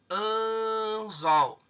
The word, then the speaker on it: anzol: O mais forte aqui é o zol.